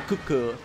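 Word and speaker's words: Kut-Ku: Or sorry, Kutku is how it's pronounced. The T is silent.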